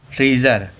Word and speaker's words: treasure: फिर से एक और देखो, TREASURE, ट्रीज़र। ट्रीज़र में क्या है, जो ए है वो ई के बाद में आ रहा है, इसलिए हम लोगों का फिर से ए साइलेंट है।